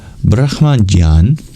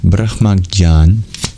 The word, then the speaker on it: Brahmajñāna: Anyway, it's a difficult to pronounce consonant cluster. J and N-Y, Jnān, Brahmajñāna. Anyway, that is to be interpreted to mean knowledge of the Atma.